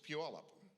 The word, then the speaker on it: Puyallup: read um i'd say puyallup oh that's pretty close i that that beats steve what what is it it's puyallup pew all right what do we got